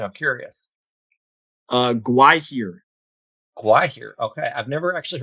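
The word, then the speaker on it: Gwaihir: Gwahir. Gwahir. Okay, I've never actually heard someone pronounce it, so that's good I to think know.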